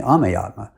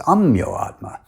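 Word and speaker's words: Ameyatma: is spelt a-m-e-y-a-t-m-a and everyone else uses the sanskrit pronunciation and calls me ame but shiloh prabhupada has bengali accent and he pronounced it as ammyo atma adding an o in the middle during my initiation so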